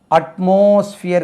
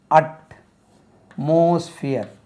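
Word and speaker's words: atmosphere: ई आर ई ऐसा एक शब्द है देखिए उच्चारण करके देखिए कैसे करेंगे हम इसको एटमॉस्फियर कहते हैं हिंदी में लिखकर देखेंगे एटमॉस्फियर एटमॉस्फियर ऐसे कहते ना एटमॉस्फियर फियर ऐसे कहेंगे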